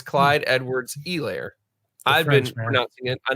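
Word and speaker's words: Edwards-Helaire: you don't say it Euler yeah it's Clyde Edwards a layer I've been out yeah I know I've been pronouncing it client Edwards he layer because that's what I had heard before then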